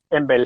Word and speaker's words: EMBL: Nosotros decimos Embel siempre, porque MBL.